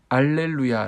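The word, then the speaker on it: Alleluia: 실은 할렐루야 찬양 씨입니다 할렐루야 는 여호와를 찬양하라 라는 뜻의 히브리어로 라틴어로 는 알렐루야 라고 발음합니다 그래서 차장 들에 보면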